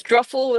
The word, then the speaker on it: Druffel: It's Druffle that rhymes with truffle.